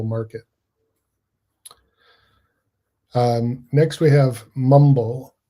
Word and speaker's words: Mwmbl: Um, next we have Mumble, which is spelled MWMBL.